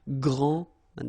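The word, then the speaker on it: grande: final s okay so gr and then same thing here gr and regarding the feminine form you will pronounce it Grand okay don't insist on the final but then pronounce this D Grand and then exactly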